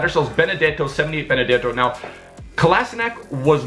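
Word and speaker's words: Kolašinac: Now, really quickly, I want to touch on Kolasinac, who I believe that's how you say it. Someone corrected me in the comment section of the video. I think it's pronounced Kolasinac.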